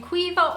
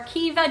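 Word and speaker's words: Caoimhe: ireland is the name cuiva or kiva depending on where you are from in ireland an ongoing debate between the counties on its pronunciation of course if you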